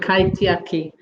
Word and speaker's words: kaitiaki: La siguiente palabra es, me corregirás la pronunciación, kaitiaki. The next word, and you please correct our pronunciation, is kaidiaki. Very good, kaitiaki.